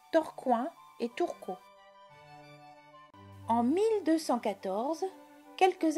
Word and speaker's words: Tourcoing: torconge la prononciation a changé en pi on prononce torcoin et tourco en 1214 quelques années avant la